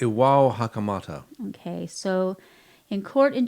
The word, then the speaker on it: Iwao Hakamata: You spent some time in Japan, so how do you pronounce this lovely man's name? Iwa I think Hakamata? it's Iwao Hakamata.